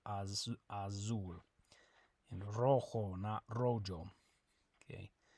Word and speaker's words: rojo: red in Spanish good remember that the J makes an H sound and the Z makes a s sound a soul not as Azul a rojo okay how do you